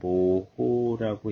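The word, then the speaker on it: mho: 전기를 얼마나 잘 흐르게 하는지 단위는 말발굽을 거꾸로 한 거라고 표시를 하게 되고 읽는 거는 저거를 앞뒤를 바꿔서 모호라고 읽어요.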